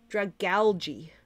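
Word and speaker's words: Dragalge: Dragalagi. Algae. I think the last is supposed to sound like algae, so it's Dragalgi.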